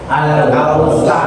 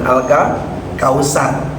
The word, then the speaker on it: Al-Kautsar: Alkautsar. Nah, pakai huruf tsa ya. Nah, kalau sudah tahsin masjidnya mana? Al-Kautsar bukan Alka Kautsar ya. Alkautsar tsar. Tsar. Heeh.